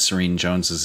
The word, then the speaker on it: Serene Jones: really had fun at serene Jones's expense I think her name rhymes with mean Jones oh I said rhymes